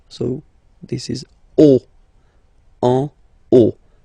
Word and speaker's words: en haut: Okay, final T not pronounced, and then this H as previously, you don't pronounce it, so this is haut. En haut. En haut.